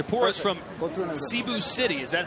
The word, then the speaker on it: Cebu: up it's a porous from both in the Cebu City is that how you pronounce it caribou is actually Cebu yeah it's about an hour flight from Manila